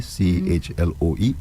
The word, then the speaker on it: Chloe: C H L O E Chloe Chloe Chloe.